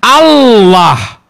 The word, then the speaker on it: Allah: dua loh itu ya Allah l-nya dua berarti l-nya ditekan Allah Enggak bukan ini ini